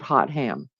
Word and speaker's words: Hotham: Hotham. It's spelled like hot ham. Hot ham.